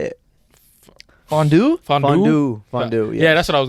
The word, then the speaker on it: fondant: it fondue fond fond fondu yeah that's what I was going to the chocolate waterfall where you dip stuff in but it's spelled fondant it's spelled fondant yeah but people say fondu wait it's f o